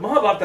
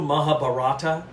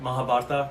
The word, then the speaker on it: Mahabharata: The Mahabharata is how it's pronounced. I hear online on Ancient Aliens specifically, they always go Mahabharata.